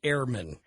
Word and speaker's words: Ehrman: ER yes okay but like professors I've had who have a bigger emphasis on proper ger German pronunciation would have said Airman well I think uh